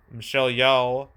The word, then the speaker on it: Michelle Yeoh: Michelle Yeoh.